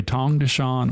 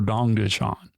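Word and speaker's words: Tongducheon: You can pronounce it with a T or a D. You can either say Tongdeshan or Dongdeshan.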